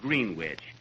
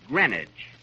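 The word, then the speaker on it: Greenwich: green witch Billy Kenny that's not green witch you see here in New York it's pronounced grenage grenage see who did you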